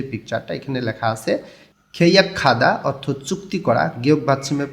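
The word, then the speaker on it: 계약하다: পরে এই নিচের যে পিকচারটা এখানে লেখা আছে খেইয়া খাদা অর্থ চুক্তি করা গিয়ে ভাতমের পরে হিউত আছে গ টা হিউতের স্থানে গিয়ে খ উচ্চারণ করতে হবে খেইয়া খাদা অর্থ হচ্ছে চুক্তি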